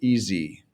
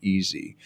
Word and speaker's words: easy: just reading it but we put a zed sound in it so easy and um if you